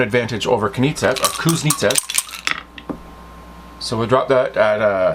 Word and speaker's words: Kuznetsov: Kuznetsov, I keep saying his name wrong. It's Kuznetsov, Wilson.